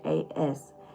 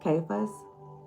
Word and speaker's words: Caiaphas: Y'all can't pronounce that. But it's Caiaphas. And I'm going to pronounce that as Caiaphas.